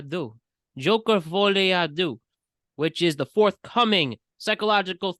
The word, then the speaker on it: Folie à deux: Joker Folie à deux. Folie à deux. Joker Folie à deux, which is the forthcoming psychological thriller from director Todd Phillips, and it's a sequel to 2019's Joker.